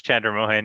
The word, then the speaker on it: Chandramohan: you here anything i mean if you can pronounce chandra mohan yeah that's that's my last name all right